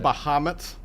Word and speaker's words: Bahamut: Is that how you pronounce that? Bahamut. Bahamut.